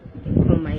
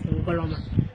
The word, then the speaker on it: Ngoloma: So the name Ngoloma is not Nkrumah, it's Ngoloma. Ngoloma. Yeah, it's Ngloma. Ngoloma. And not Nkrumah. Because the white people, they cannot pronounce Ngoloma and they make it Nkrumah as the Asante people pronounce their own.